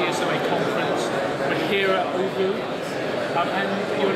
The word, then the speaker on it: ooVoo: Yeah, it's ooVoo. ooVoo, O-O-V-O-O.